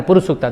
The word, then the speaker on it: पुरुष सूक्त: वेदों में उच्चारण है पुरुष सूक्ता।